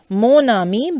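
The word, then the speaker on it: mon ami: use monami okay and the pronunciation becomes monami because of the lies in here with n and a okay so this is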